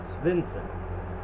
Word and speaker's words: Svensson: Bo Svensson.